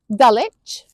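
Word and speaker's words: Dulwich: Then we have the ones with silent w Dalich Woolitch Greenwich Chisik Warick Avenue and Sabuk.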